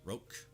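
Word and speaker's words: Rocah: establishment said westchester uh county district attorney mimi roach that's how it's pronounced rogue who previously served as federal prosecutor at the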